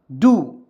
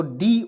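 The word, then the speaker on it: do: ठीक है य देखिए डू तो डी ओ डू इसका उच्चारण देखि डो के रूप में नहीं करेंगे डू के रूप में करेंगे डू मीस होता है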